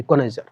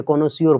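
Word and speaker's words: connoisseur: हैं गुणों का पारखी कोनर हालांकि ये लिखा कोइजर लेकिन हम स्पेलिंग अगर इसको मेरा प्र इंग्लिश का पूरा मा बहन कर देते हैं हम प्रोनंसिएशन में कोनार नहीं पढ़ते कोनो सियोर पढ़ते हैं तब याद रहता है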